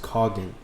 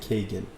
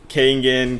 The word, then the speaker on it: Kangen: know so so it's it's pronounced cognate I've been saying Cajun I mean honestly it's Kangin Kangin is it a Japanese